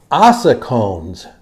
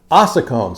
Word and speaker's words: ossicones: Ossicones. Ossicones. It's spelled like this.